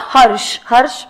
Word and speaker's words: Harsha: In the given case, Mr. Harsh with an A. A is silent.